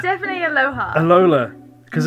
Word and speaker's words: Alola: Alola? No, that is not how you say it. It's definitely Aloha.